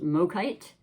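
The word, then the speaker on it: Mookaite: to you today about the crystal that I want to say is pronounced Mite m o k a i t you can look it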